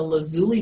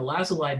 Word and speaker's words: lazuli: have shown up yet this is a lazuli bunting or a lasalle bunting i've heard it pronounced both ways uh male has this